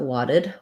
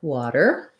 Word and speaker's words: water: So in the word water, oops, not wadded, water, we have a flap T.